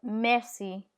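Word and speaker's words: merci: C in front of E is pronounced S. So fiance or mercy. Mercy.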